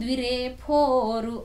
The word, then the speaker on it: ద్విరేఫోరు: మనం ఫోరు అని అంటాం కానీ వాస్తవానికి వ్రాసేటప్పుడు పాపాలలో ఫా రాస్తాం. తెలుగులో ఫా అనే ఉచ్చారణ లేదు. తెలుగులో కేవలం ఫ అనే ఉచ్చారణ మాత్రమే ఉంది. అందువల్ల అది కనిపించడానికి ఫోర్లా కనిపిస్తుంది, వినిపించేటప్పుడు మాత్రం ద్విరేఫోరు అని మాత్రమే ఉచ్చారణ చెయ్యాలి.